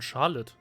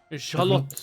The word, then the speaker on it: Charlotte: Sie wird ja tatsächlich Englisch ausgesprochen. Charlotte. Okay. Naja, Französisch klingt jetzt der Name auch nicht so unglaublich gut. Wie wäre es denn auf Französisch? Oh, Charlotte. So ähnlich. Charlotte.